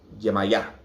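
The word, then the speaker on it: Yemayá: you're saying yeah maya they're putting the emphasis on the first a you're supposed to put the emphasis on the second a yamaha there's yanson when you're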